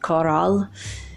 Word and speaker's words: Corral: But not like a corral for cows, but a coral, like a coral in the sea, like the sea plant coral. But in Spanish it's pronounced coral.